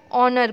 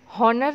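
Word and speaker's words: honour: हम क्या पढ़ते हैं, क्या प्रोनाउंसिएशन होता है, ऑनर पढ़ते हैं. हम हॉनर नहीं पढ़ते, एच को साइलेंट रखते हैं. तो ऑनर, ऑनर में एच इज़ साइलेंट.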